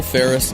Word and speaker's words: Faris: And Faris is spelled F-A-R-1-R-I-S. That's right, like Paris, but with an F. Paris, France, not California.